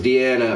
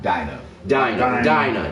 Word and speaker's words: Dinah: And in my big up to her, because Deanna or Diana, however you want to pronounce her name, she's just not Dinah. Dinah.